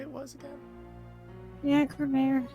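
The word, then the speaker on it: Gramarye: Yeah, Cremere. Apparently, that's how they pronounced it in the audio of Spirit of Justice, anyway.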